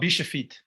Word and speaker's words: bishopite: but how how what is it how's it pronounced uh it's called bishopite okay right and go ahead explain explain the